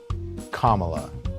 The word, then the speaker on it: Kamala: the scene for years say it with me kamala harris kamela you know i've always said it the correct way but now that